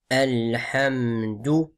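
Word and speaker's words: الحمد: On n'entend pas le lam. On entend, les gens disent alhamdu, alhamdu. Il faut bien prononcer le lam, comme on a vu, qamari. Alhamdu.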